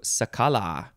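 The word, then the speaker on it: cicala: right moving on to sakala it's uh it's spelled the same as cicada but it's an l instead of a d sakala noun from 1794.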